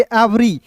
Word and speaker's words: every: EVERY है तो इसे पढ़ेंगे एवरी। देखिए ई का उच्चारण यहाँ पे ए के रूप में होगा तो इसे पढ़ेंगे एवरी, इवरी नहीं।